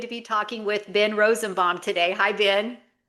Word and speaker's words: Rosenbaum: I'm so excited to be talking with Ben Rosenbomb today. Hi, Ben. Hi. And well done on the pronunciation of my name.